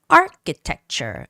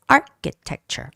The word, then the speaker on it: architecture: Architecture. The stress goes on the first syllable and ch has to be pronounced as K. So it's architecture.